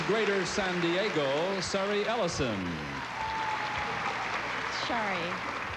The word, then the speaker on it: Sari: Shari. Shari, S-A-R-I, and still pronounced Shari.